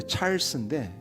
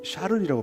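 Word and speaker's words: Charles: 영어로는 이제 찰스인데 프랑스는 샤를이라고 발음하더라고요.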